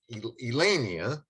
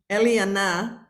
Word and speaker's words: Eliana: I pronounce it wrong so it's elenia no here's how you're going to remember it forever Todd my name it's a Hebrew name Eliana Eliana means my